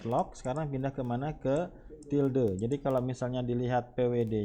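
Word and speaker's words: tilde: CD till till the ini dibacanya adalah till the dimana keyboard-nya keyboard nya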